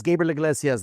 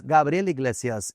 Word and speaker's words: Gabriel Iglesias: This is Gabriel Iglesias. That's Gabriel Iglesias if you have an accent.